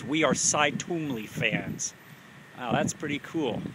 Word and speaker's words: Twombly: It could be Twombly or Twombly. Well, New England, it's pronounced Twombly.